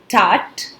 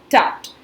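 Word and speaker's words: Tut: this they must to some people pronounce it as tot it's both the ways it's correct so I rather prefer pronouncing him as tucked so here in this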